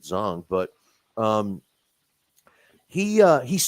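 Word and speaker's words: Zhang: fun because I mean Zang or I know they say it it looks like Zang but they pronounce it zong but um he uh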